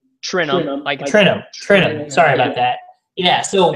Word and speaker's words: Trentham: Trentham? Trentham. Trentham.